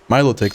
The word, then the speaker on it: Milotic: Milotic, that's how you pronounce it.